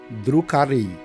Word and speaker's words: Drukhari: Os Drucari Eldarix Malum pronuncia-se Drucari ou Dark On no léxico Aldari, também conhecido por forasteiros como Dark Eldar.